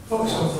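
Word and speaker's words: вокзал: Voxel.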